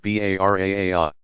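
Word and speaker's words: Bara'a: the night of forgiveness Leila Alvaro a pronounced BA raar popular belief says that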